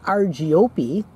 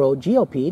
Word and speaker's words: Argiope: David's got walking on his hand from the family Argiope, or Ogiope, depending on how you want to pronounce the spider's name.